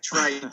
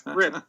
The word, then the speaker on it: Trippe: It looks like Trippe, but it's Trippe. I'm so sorry, Brian. I knew that. I've got that silent E on the end.